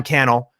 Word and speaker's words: Cannell: media my name is kennel rhymes with YouTube channel as far as the pronunciation of that and we have been